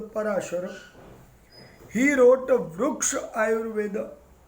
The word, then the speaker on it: Parashara: The fourth book, the author is Maharshi Parashara. Maharshi Parashara. Some people pronounce as Parashar, but the real pronunciation is a Parashara.